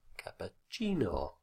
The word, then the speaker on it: cappuccino: on any syllable, and with Spanish and Italian it's the second last syllable which always carries the stress. So it's spaghetti, cerveza, cappuccino, as you probably already know.